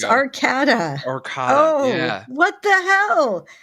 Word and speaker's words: Arcada: If there's one consonant between two vowels, the first vowel is a long sound.